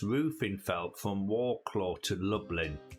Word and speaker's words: Lublin: Roofing felt from Warclaw to Lublin. That's like Dublin, but don't spelled with an L.